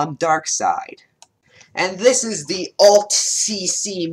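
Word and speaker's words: DarkSycthe: Dark Sitha? Apparently he pronounces it Dark Side, and I would want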